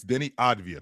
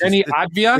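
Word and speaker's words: Deni Avdija: It's Denny Advia. That's the way it's pronounced. Denny Advia? It's spelled, to your point, the way it's spelled. That's the way it's spelled, but it's the way it's pronounced is Denny Advia.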